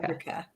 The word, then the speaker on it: Fabrica: I always say the name wrong. Is it? So Tracy's always been Yeah. wondering, is it Fabrica or Fabrica? Fabrica.